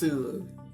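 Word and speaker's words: Cthulhu: out loud Drew they used a um a cthulu name and I'm trying to uh it's pronounced thulu what it's what's the question read it as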